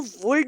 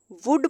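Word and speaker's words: would: अब हम इसको वुल्ड नहीं पढ़ेंगे, वुड पढ़ेंगे, एल साइलेंट हो जाएगा।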